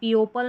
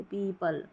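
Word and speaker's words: people: भी ई यहां है पीपल तो ई ओ पी ई ओ को भी ई पढ़ रहे हैं तो पीपल इस तरीके से पीओपल नहीं पढ़ते पीपल चलिए अब नेक्स्ट देखते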